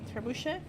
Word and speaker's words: trebuchet: That's how you pronounce it, the trebuchet? You are correct.